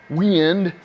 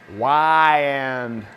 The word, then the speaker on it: Weiand: Got a nice vintage aluminum wind. Sorry, I already said it wrong. Y-end. Y-end.